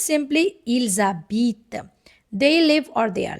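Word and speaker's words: ils habitent: Even letter ash is also silent in the beginning. So it's simply il zabit.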